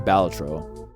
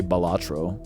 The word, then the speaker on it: Balatro: How do you pronounce the name of this game? Balatro. But if you're like, I don't know, Jeff Keighley, you would say Balatro, which I don't agree with, but whatever.